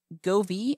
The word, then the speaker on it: Govee: a interesting device from Govi I think that's how you pronounce it g o v e e go V is a smart space